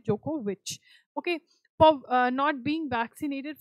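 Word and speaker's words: Djokovic: आगे चलेंगे, which country deported Novak जोकोविच फॉर नॉट, अगर तुम्हें भी प्रोनाउंस करना नहीं आता मैं सीख लिया, जोकोविच होता है इनकी, डीजे नहीं बोलते, जोकोविच.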